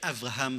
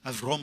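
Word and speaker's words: Avrom: dise et bien skever et Avraham soukever ou bien selon la prononciation idich Avram soukever est un poète hiidich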